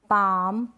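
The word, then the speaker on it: palm: ये जो स्पेलिंग्स है, ये जो एग्जाम्पल्स है, यहाँ पर एल साइलेंट है, ठीक है, क्योंकि ए ओ यू वोवल्स के बाद में क्या आ रहा है, एल आ रहा है, इसलिए।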